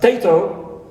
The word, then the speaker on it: potato: Example, we have the example of potato, potato. So instead of saying potato, we omit the schwa in the first syllable. Right. Because it occurs between pa and ta. Pa, ta, ka are voiceless consonants, as we said before. So, potato, so no schwa in the first syllable, it's omitted.